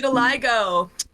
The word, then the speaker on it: vitiligo: Vitiligo. That's how you pronounce it.